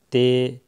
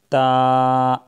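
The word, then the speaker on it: تاء: تلفظ سے پرہیز کریں، یعنی بے، تے، ثے، ہے، خے، توئے، زوئے وغیرہ ہرگز نہ پڑھیں، بلکہ با، تا، ثا، حا، خوا، طوا، ضا اس طریقے سے پڑھیں۔ ان 29 حروف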